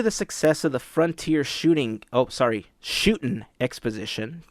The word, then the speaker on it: Shootin': Due to the success of the Frontier Shootin' Exposition, there's no G, it's an apostrophe, gotta say it right, of the Frontierland Shootin'